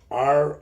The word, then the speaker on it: Rogelio: gonna blow your mind my real name is if you spell it r-o-g-e-l-i-o and it is pronounced Rogelio you're right about The Helio